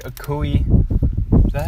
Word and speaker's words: Okoye: Basically like a Koei... Is that how you say it? A Koei? Okoye.